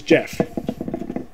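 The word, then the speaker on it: Jeph: yeah it's jail this backpack his name is jeff jeff loeb yeah it's kind of weird but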